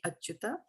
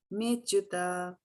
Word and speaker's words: cyuta: So remember, there is this apostrophe 2 times coming here, right? So it means a there, but it's not to be pronounced, right? Arjuna uvāca senayor ubhayor madhye rathaṁ sthāpaya cyuta rathaṁ sthāpaya cyuta, right? Not me achyuta, cyuta yāvad etān nirīkṣe.